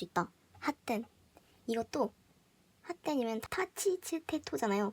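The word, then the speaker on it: 発展: 그래서 발음할 때 핫텐 이런 식으로 발음을 하신 것도 틀린 건 아닌데 뭔가 이런 식으로 티귿을 의식을 하고 핫텐 이런 식으로 발음을 하면은 이게 좀 다르게 느껴져요.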